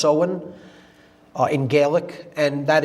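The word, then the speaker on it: Samhain: in the mid midpoint of fall is seen pronounced sewen. It looks like Sam Hayne in English but it's pronounced sewen uh in Gaelic and that is Halloween or hollow mass October 31st.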